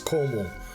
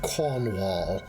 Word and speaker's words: Cornwall: something useful in that that's not how you pronounce Cornwall Cornish don't over annunciate anything vdu I work at tro we don't like cbls down here it's all everything's one Cel it's Coral not Cornwall um legendary cor cornwal